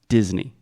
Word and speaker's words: Disney: it is d d Disney Disney perfect secondly the ey y at the end a lot of Brazilians have the tendency to say a a but this is E just like Disney Disney do we say the